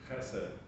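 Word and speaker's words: חֶסֶד: One of the things that's been interesting to me is that there is a word, and you can pronounce it, Chesed. Chesed.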